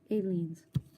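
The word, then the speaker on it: Aleene's: Aileen's.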